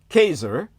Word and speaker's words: Caesar: When the first emperor of Rome, Kazer, that's the correct pronunciation in the Latin from whence we derive the word Kaiser and ultimately the word Thar, the savvisization thereof.